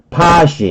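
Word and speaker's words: posh: 그다음에 파시, 이거 포시 발음이 아니고 파시예요.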